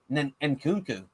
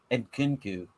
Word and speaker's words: Nkunku: Nkunku? But do I they don't pronounce the N? You probably don't pronounce the N. Nkunku.